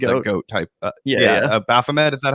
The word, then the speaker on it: Baphomet: Baphomet. Is that how you pronounce it?